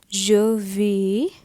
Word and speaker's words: vais: This is VAIS, je vais.